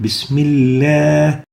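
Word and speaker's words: بسم الله: So when there is a kasra, the lam is always having attenuation, tarqeeq. Bismillah. We don't say Bismillah. The proper way is to pronounce it with tarqeeq. Bismillah.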